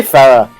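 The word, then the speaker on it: Pherae: Ferre. Just say Farah.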